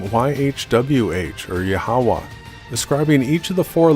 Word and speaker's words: Yahweh: The true name of the Creator is pronounced Yahweh, and for details on that research, please see my video, What is the True Name of the Creator and the Christ?